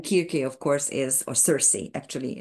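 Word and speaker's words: Circe: signif significator and kir of course is or Cersei actually it's pronounced Cersei in English is the uh the um um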